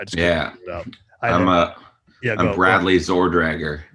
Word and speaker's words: Zorgdrager: yeah i'm a bradley zordrager zordrager the first g is silent it's not zorg dragger because that would be